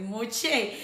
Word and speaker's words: Moshe: No, es Mosé. Y a gente le cuesta pronunciarlo porque no sabe como el el origen hebreo del nombre, ¿no?